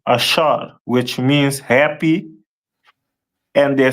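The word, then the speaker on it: אשר: to Uruguay uh and their name is pronounced in Hebrew as asher a which ashar which means happy and the symbol is a royal dainties.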